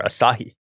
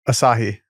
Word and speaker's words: Asahi: Are they splitting their acai bowls or their Asahi? Asah. I never know how to say it. Is that how you say it?